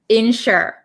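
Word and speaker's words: ensure: And the last word has the exact same pronunciation, insure.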